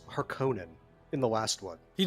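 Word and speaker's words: Harkonnen: GGO in Dune forever it has always been har Conan there's no consensus in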